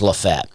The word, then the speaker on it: Lafayette: dad lives outside of this town called lefet spelled Lafayette uh pronounced lefet and uh a friend